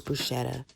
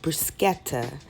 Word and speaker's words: bruschetta: favorite favorite things to eat and that is Bush Etta actually it is pronounced bruschetta and in Italy they would not consider this